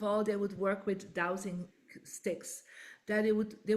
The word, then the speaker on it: dowsing: at your website and you use the word dose so explain to us what dose mean and